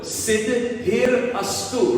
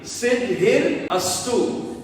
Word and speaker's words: Siddhirastu: Before you begin your studies, your homework or your assignments, or even you jump on your computer, say this 4-syllable word. Siddhirastu. Repeat after me. Siddhirastu.